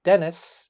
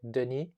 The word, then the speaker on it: Denis: names which is why my name is spelled with 1n in english i go by dennis because if i use the french way of saying it denis it sounds rather pretentious anyway i think i